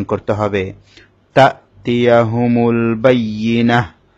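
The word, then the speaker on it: البينة: তা'তিয়াহুমুল বাইয়িনাহ, এখানে বাইয়ি ইয়ার মধ্যে তাসদীদ হলে ইয়া একটু শক্ত হবে। বাইয়িনাহ, তার মধ্যে গোলতার মধ্যে ওয়াকফ করা হয়েছে, সে কারণে গোলতাটা হা হয়ে যাবে।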